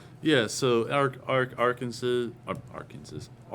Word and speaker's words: Arkansas: I I know it's I know it's Arkansas. I just feel like saying our Kansas.